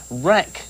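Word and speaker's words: RAK: to pronounce that right is it Rack or is it R it's rack Airways um Andrews but like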